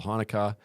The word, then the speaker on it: Hanukkah: Yeah, I'd like to know because for me, the only thing I know about Hanukkah is that it rhymes with harmonica, and Adam Sandler sang a really good song.